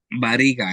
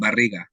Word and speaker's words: barriga: Some of the words that I find difficult are the ones where you have to roll your R's. Carro. Sometimes I'll say carro instead of saying carro, or barriga instead of saying barriga.